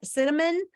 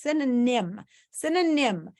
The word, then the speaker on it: synonym: to the word because a lot of kids pronounce it cinnamon but it's not cinnamon like cinnamon is what you put on your French toast or your cinnamon toast synonym it means sin is